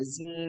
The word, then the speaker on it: zine: sign is or a Zine it's pronounced both ways I've heard um this is a